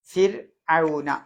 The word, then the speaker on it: فرعون: ഫിർഔന അത് നമ്മൾ കുറെ വട്ടം പറഞ്ഞതാണ് അല്ലേ? തർക്കീക്കായിട്ടാണ് ഉച്ചരിക്കേണ്ടത്.